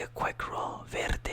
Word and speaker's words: verde: Verde is more like a longer roll of the R.